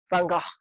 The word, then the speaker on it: Van Gogh: Van Gogh is actually how you say it.